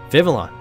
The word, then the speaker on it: Vivillon: Vivillon.